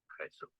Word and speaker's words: Jesús: Spanish, Jesús, Jesús, French, Jésus, Jésus.